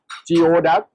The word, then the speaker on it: geoduck: in the first time, so I pronounced in the wrong one because it said Geoduck. I call is Geoduck, but after I learned from my master, so he taught me that the right pronunciation is called Geoduck.